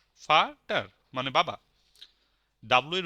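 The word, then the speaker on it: Vater: ইয়া মানে এস হ্যাঁ ভি এর উচ্চারণ জার্মান ভাষা হবে ফাও এফ এর মত ফাটার ফাটার মানে বাবা ডাব্লিউ এর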